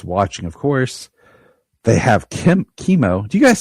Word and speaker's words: Chemo: They have Chemo. Do you guys say Chemo or Chemo? How do you pronounce his name? I usually say chemo, like chemical.